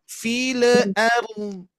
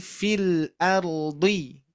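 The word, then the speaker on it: في الأرض: Jangan sampai lam sukun ini memantul. Mantul, jangan sampai memantul ya. Contoh, fil arl. Nah, fil arl. Nah, bukan fil, hati-hati ya. Tapi fil ardi ya.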